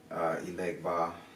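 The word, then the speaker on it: Elegba: The majority of the male Orishas like it, especially Ilegba, Eligua, depending on your native tongue, how you say it, what culture you're in.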